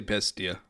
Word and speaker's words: Bestia: I would say Bestia. Okay. Well, there we go. I didn't butcher it. Totally. There's no accent marks around, so I just wanted to add the accent. it's just, Yeah, there has to be an crazy. accent on one of the syllables. It's just which one does it go on? It's on the Probably natural first. one, not a different one. Yeah, it's probably the first one.